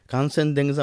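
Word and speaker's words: Kangchenjunga: ওয়াল কাঞ্চনজঙ্গা কিন্তু ওখানে কাঞ্চনজঙ্গা কথাটাও কিন্তু একটা ডিবেটিয়ান শব্দ এভারেস্টে যেমন বললাম চোমলুঙ্গা না ওটা কাঞ্চনজংঘা নয় ওটার মানে উচ্চারণটা আলাদা হ্যাঁ খানসেন দেংজা হ্যাঁ তো কাঞ্চনজংঘা শুনতে তো কাঞ্চন সোনা জংঘা ঠাই হ্যাঁ একদমই তা না এটা কোন সংস্কৃত শব্দ না কানসেন দেংজা মানে ফাইভ ট্রেজার অফ স্নো পাঁচটা মাউন্টেন আছে ওখানে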